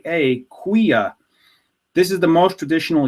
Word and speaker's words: cuia: side of the coin here we have a Quia cuia a Quia this is the most traditional yerbamate gourd in